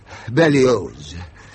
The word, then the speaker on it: Berlioz: Hector Berlioz. The Z is pronounced.